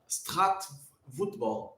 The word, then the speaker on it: straatvoetbal: Good pronunciation. It's Dutch. Okay. Very nice. Straatvoetbal.